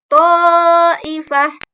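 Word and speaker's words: طائفة: Ta'ifah. Ta'ifah. Ini yang sudah kita bahas sebelumnya. Disebut dengan mad wajib muttasil. Yang mana ada mad tabi'i bertemu dengan hamzah dalam satu kalimat.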